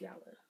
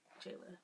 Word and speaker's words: Jala: an unboxing for yellow skin yes it's yellow pronounced yellow but it looks like jayla but it's pronounced yellow skin and i have